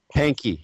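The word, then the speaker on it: Pahnke: P A H N K N K E Pankey is that how you pay Pankey, yeah. Pankey, yeah. Pankey's um Good Friday experiment where he um so Pankey went around and he um talked to mystics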